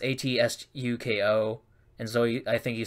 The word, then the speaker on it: Atsuko: I think you say Atsuko so you pronounce it like Oh TSU ko but again I think you you've removed or you know you omit the you so you just say Atsuko and same thing with